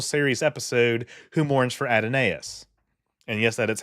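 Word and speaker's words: Adonais: to the original series episode who Mourns for adonus and yes that is how it's PR that's how it's pronounced got a minute on the clock and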